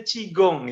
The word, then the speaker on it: qigong: Oke bermanfaat baik-baik jadi chikung atau sik dong ya qigong tapi dibacanya cigong ya tikungan gitu ya